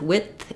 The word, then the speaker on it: width: with and with withth what happens with width is I'm not really saying a d I'm not saying wi with I'm just stopping the air for the D and then letting the th out with so if I'm saying